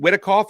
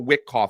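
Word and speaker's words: Witkoff: Uh Steven Whitikov, is it Whitikov or Wickoff? I can't even say his name. I think it's Whitikov.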